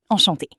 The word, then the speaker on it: enchantée: Yes, and for spelling, since I'm female, I add an extra E at the end, but it sounds exactly the same.